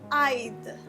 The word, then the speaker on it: I'd: So it's I'd, like I would, I'd, right? You need to pronounce the D afterwards.